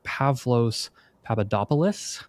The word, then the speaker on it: Pavlos Papadopoulos: Pavlo Papadopoulos.